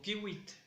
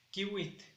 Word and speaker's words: kiwit: A la lluvia lo pronunciamos como kiwit, kiwit, y para decir que está lloviendo, kiutok, kiutok.